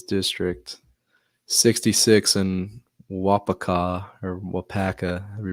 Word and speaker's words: Waupaca: is big Michael's District 66 and wapaka or Waupaca we pronounce that it's Michael's 35 Michael's Plus 35.